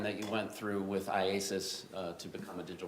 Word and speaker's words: IACIS: call it Isis yes how do you say iasis iasis all right I just want to shorten it for today yes all right so iasis tell us about that program that you went through with iasis uh to become a digital France examiner yes